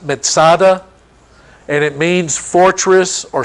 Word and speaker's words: Masada: side of the Dead Sea Masada is it's pronounced Masada and it means fortress or stronghold it's not